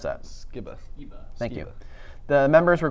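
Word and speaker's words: Skiba: How do you pronounce that? Skibba.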